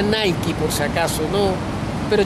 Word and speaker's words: Nike: está haciendo Okay por un lado tiene a Nike que en inglés se pronuncia Nike por si acaso no pero yo le digo